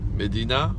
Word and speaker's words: Mdina: And we're gonna visit Mdina. Is it the right pronunciation? Yeah. Because she is from Malta.